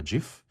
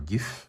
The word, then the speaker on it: GIF: So in order to create a GIF or GIF, depending on how you pronounce it, so the GIF or GIF.